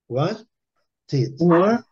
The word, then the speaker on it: Wanted: Wanted. Wanted. Tid. Wanted. Wanted. Wanted. Wanted. Wanted. Aqui você tem que colocar o E, né? Tid. Wanted. Tid. É só lembrar tid.